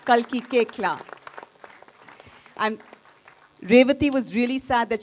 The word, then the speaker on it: Koechlin: So please help me in welcoming Kalki Koechlin. Kalki Koechlin. It's pronounced Koechlin. Kalki Koechlin.